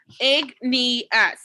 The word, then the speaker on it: igneous: little difficult to say the first type of rock is igneous which you pronounce it oops i can't see i'm missing a part of my screen give me one second egg need us igneous means fire rocks